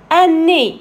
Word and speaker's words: nez: Un nez, I-Z, on prononce E, un nez.